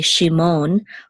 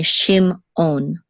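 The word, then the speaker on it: שִׁמְעוֹן: So we're not going to say Shimon, we're going to say Shimon, okay? And then the accent, this is the accent, it's a katon, and this is Shimon. So this is Shimon, and the accent is on the last syllable.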